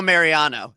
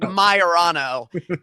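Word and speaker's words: Maiorano: and let's be straight this is no Mariano his name is Nick myano sorry he is nothing like Boston Ro just want to establish that all right we got that out of the way how do you say wait say it one more time with me myano mayano mayano it's like the Bizarro Mariano yeah kind of weird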